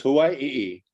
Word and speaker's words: Hawaii: minute High one language you pronounce every letter so it's Hawaii they only have a